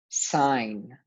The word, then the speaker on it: sign: I'm putting the spelling pattern at the end sign can you sign your name here sign your